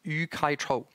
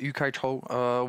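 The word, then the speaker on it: Yu-kai Chou: mention maybe, Zdeňku, the source, because a great gamification expert is Yu Kai Cho. It's I will then maybe send the share link, but it's spelled YUKAICHOU.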